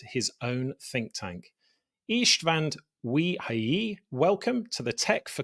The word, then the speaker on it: Ujhelyi: I think you are the first one who could pronounce my family name. It's not easy. It's a Hungarian name.